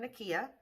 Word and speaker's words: Nikkia: or nikia joy cosmetics online and i believe it's spelled n-i-k-i-a so nakia joy so her powders a few of her